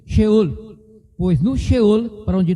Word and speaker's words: Sheol: O certo é em hebraico mesmo, sheol.